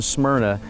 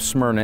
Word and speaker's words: Smyrna: us the city of Smyrna and the ring get to the study smyrna means mer you can hear it in the pronunciation of the word Bible readers are well